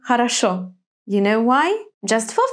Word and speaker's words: хорошо: Why is it on the first syllable in холодно, on the third in интересно, and on the last in хорошо?